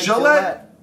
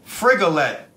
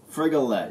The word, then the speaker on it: Frigolette: Frigolette. Isn't it like Gillette? Like Rigoletto. Oh, so it's not like Gillette. It's Frigolette. Frigolette, yeah.